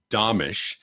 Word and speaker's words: Domitrz: As you're listening, you can just look him up online, Mike, and it's Domitrz, and it's pronounced Domitrz.